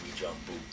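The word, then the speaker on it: Uijeongbu: Now, that's a French spelling, and it starts off with U-I something, but it's pronounced Wijambu.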